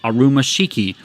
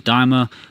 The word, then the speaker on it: Daima: to Dragon Ball Daima, deliberately mispronounces the title as Arumashiki, a wordplay based on Arumashiki, a Japanese term meaning unworthy or inappropriate. Nakatsu corrects him, pointing out that the proper title is Daima, but Torishima keeps the